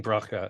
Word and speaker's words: Bracha: start again okay well good morning good evening broca and hopefully I pronounced your name correctly yes you did terrific